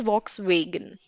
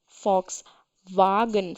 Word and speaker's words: Volkswagen: brand and in India people call it as Volkswagen but because it's a German car brand so the pronunciation is different difference we the pronunciation is